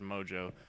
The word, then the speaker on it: Mongeau: __ ] mess of a name apparently is pronounced Mojo I should have known but uh she's claiming